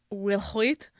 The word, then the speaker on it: Will Hoyt: Will Hoyt. Will Hoyt. Will Hoyty. Will Hoyt. Will Hoyt. I don't think I think the E at the end is silent. Okay. So I think it's Will Hoyt.